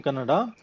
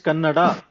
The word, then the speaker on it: Kannada: remember is while pronouncing Kannada, all the words in Kannada will end with full vowel. See, many times what happens, people say Kannad, right? It is not Kannad, it is Kannada.